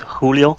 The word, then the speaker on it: Choolio: Choolio, you want to introduce yourself and maybe these players? Yeah, usually my name is pronounced Julio.